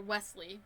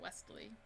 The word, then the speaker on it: Wesley: adam moving on so next is westley or wesley not westley i wonder if your name is actually spelled westley if that's how you pronounce it but his is just wesley and bettencam okay and